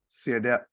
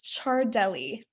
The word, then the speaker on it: Ciardelli: It's Ciardelli. Italian descent, so it's hard to say.